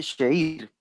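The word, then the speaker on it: שיר: Esta palabra cantar en hebreo es una palabra que se escribe shir o se lee sheir.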